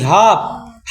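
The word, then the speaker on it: half: ठीक है एच ए एल एफ का पड़ी हाफ हाफ मतलब आधा अब है 21 केस देखो के कब साइलेंट हो जाए एन से पहले के साइलेंट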